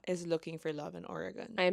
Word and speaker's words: Oregon: That's just He wants me to find Oregon. What? That's how they say it. Oregon. Oregon. Yeah. Like an organ. Oregon. Yeah. You don't say Oregon.